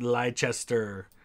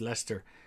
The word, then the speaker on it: Leicester: for my american friends it is not pronounced lychester or leicester it's lester um where is that